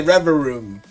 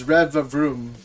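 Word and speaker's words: Revavroom: I want to say Revroom, but it's not. It's Rev Vroom.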